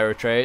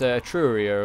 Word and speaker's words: Etruria: I want to say it's not Eritrea. It's Etruria or whatever it is.